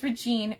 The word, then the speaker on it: Regine: No, it's Regine.